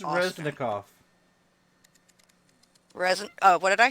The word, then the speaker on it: Reznikov: Foreign Minister Dmytro Kuleba and Defense Minister Oleksiy Reznov, What? alongside U.S. Secretary of State Anthony Blinken and Defense I Secretary think Lloyd it's Austin. Reznikov.